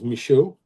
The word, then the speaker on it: Misho: Um the um the last name is original pronunciations was Misho. Um it was m i h au or a u d.